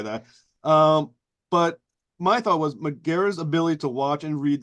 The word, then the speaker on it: Megara: Megara? Yeah, I mean, there are a couple ways to say it, but Megara is, yeah.